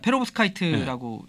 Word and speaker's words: 페로브스카이트: 발음이 맞습니까? 맞습니다. 페로브스카이트라고 얘기를 합니다.